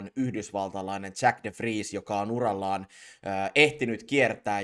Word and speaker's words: De Vries: Um, well, it's Dutch, so De Vries is right.